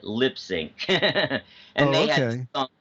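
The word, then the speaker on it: Lipps Inc.: by a group called Lip Sync. You know, have you heard of them? It looks like Lips Incorporated, but I think you pronounce it Lip Sync.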